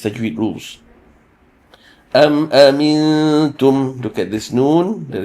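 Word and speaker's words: أنتم: You shape your mouth as if you're going to pronounce the letter ta, but you read through the noon sakin. So amintum, amintum.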